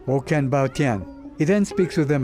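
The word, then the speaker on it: 我很抱歉: say you're very sorry in Chinese, which is pronounced Woken Bao Tian.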